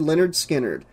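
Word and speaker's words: Lynyrd Skynyrd: the eight-track tape that read leonard skinner pronounced leonard skinner it was kind of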